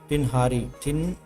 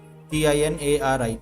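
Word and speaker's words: Tighnari: मतलब GH silent है इसमें, सीधा टिनहारी, टिनहारी, TINARI, टिनहारी।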